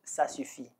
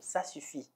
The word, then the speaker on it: Ça suffit: you you can all eat you can use sass you fee okay it's very simple sass you see okay so now I'm talking talking a lot